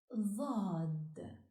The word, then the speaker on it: ض: This letter is pronounced Dhad, articulated with emphasis.